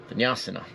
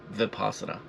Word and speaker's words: vipassana: of this practice of vinyasana vinpasana I say it wrong all the time um vipassana and so you know